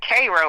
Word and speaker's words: Cairo: It's actually, they pronounce it Cairo, like Cairo, the syrup.